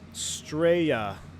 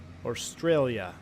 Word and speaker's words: Australia: someone else's problem now it's pronounced straya Australia it's it's is you're a bit more Posh Australia Estrella Australia mate